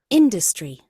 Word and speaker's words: industry: tuh eh industry ya you you emphasize the first syllable industry industry industry industry What